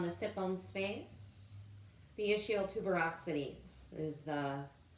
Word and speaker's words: ischial tuberosities: rooting through on the sit bones face the ischial tuberosities is the correct and map anatomical pronunciation or however you want to think of